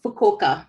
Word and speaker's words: Fukuoka: in fukuo yo perfector i might have it wrong kishu sangyo university and it's fukuoka prefecture very close not bad